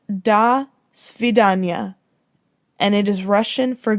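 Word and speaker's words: до свидания: the association might have been different it is pronounced da svidanya and it is russian for goodbye a person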